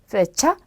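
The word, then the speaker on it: fecha: 그래서 발음은 영어랑 똑같이 F 발음처럼 해주시면 돼요. 그래서 파밀리아, 페차, 펠리스 이렇게 발음하시면 되겠습니다.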